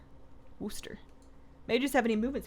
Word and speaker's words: Worcester: I don't know why Worcester is the correct pronunciation since there's no Chester in the name Worcester may just have any movement speed legendaries I